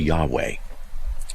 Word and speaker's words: Yahweh: All right, so how do you pronounce it? No one really knows. So is it Yoho, Yahweh, Yahweh, Yahi? You know, so depending what vowels you put in there, but generically speaking, the most accepted form that I've seen is simply Yahweh.